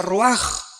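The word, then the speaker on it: רוח: Aquí se usa otra palabra hebrea, que se escribe ruach, con R de Raúl, A-C-H. Se pronuncia ruach.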